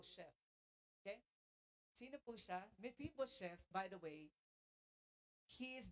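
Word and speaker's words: Mephibosheth: Now be careful when you when you pronounce his name because it's really a shameful thing if you mispronounce that meibo chef. Okay? Sino po siya? Mefibo chef.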